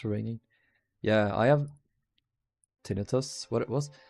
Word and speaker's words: tinnitus: Yeah, I have tinnitus. What it was? How is it pronounced in here? Tinnitus pronunciation. Tinnitus. Tinnitus. I always recall that it's pronounced differently in English. We say tinnitus.